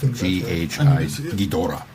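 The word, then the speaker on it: Ghidorah: and G G gidora how's that one pronounced g h i Gora Gora yeah one of the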